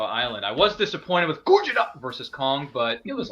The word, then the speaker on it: Gojira: It's pronounced Gojira. Godzilla. Yes. No, it's Gojira.